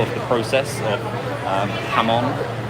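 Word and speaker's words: jamón: And you can look this up as well of the process of um Hammon. It looks like it's spelled jamon, but it's ham on.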